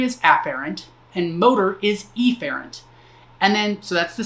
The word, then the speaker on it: efferent: efferent with an E I tend to over pronounce the the first letter of that so afferent and efferent that's not how it's actually pronounced but that I feel